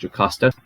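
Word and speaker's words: Jocasta: know it's spelled with an eye but it's pronounced jocosta as if it's with a J years and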